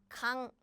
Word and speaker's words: 강: So it's 강, right? 강, because this is g, this is a, and this is 응. So all together, the pronunciation is like 강. So yes, when it's used at 받침 or as a final consonant, it sounds like ng, 응. But when it's used at the beginning of a syllable, it sounds like nothing.